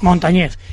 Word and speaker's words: Montañez: me ahora mi apellido no es llana es aguda Montañez es Montañez tenía toda la pinta